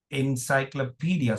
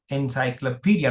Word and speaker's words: encyclopedia: Encyclopedia. Now from the way I pronounce it you will understand that P is the stressed uh primary stress syllable.